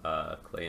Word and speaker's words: Klei: together or don't starve Klei entertainment rhymes with clay there were rhymes with